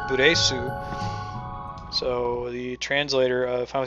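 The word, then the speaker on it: ブレス: breath in Japanese, which they wouldn't pronounce English breath, they'd pronounce it buresu.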